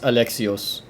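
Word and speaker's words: Αλέξιος: my Mario Kart name even pronounced alexios it's it's Greek see that letter is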